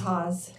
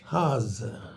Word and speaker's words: Haase: CLOSE. IT'S HAASE. HAASE. IT GETS MISPRONOUNCED A LOT.